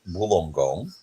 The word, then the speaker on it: Wollongong: you look at it we pronounce that Wollongong and then Michigan is